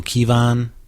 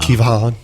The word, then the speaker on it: Kevan: Pyels summoned her uncle Kievon to uh Kevan. Yeah. They're saying just Kevin. Why can't they just say Kevin? Because it's spelled with an A, not an I in it.